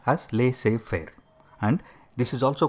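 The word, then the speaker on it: laissez-faire: followed lir is a French word it is pronounced as leay Fair and this is also called free reign leadership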